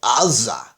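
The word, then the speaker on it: עזה: In Hebrew, it's Azza with an ayin. I believe the way it's supposed to be pronounced is something like Azza. In other words, it's this kind of low guttural that is the letter that you often hear Arabic speakers do.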